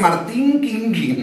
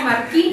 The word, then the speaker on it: Markin: Todos me dicen Martín Quinquín. No, Marquín. Y es Marquín, porque claro.